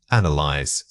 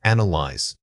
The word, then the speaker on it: analyze: This word is often mispronounced with too many syllables or a misplaced stress. When you analyze data, your voice should mirror that careful process. Start by exaggerating the initial an sound, making it robust and clear before moving through the remaining syllables.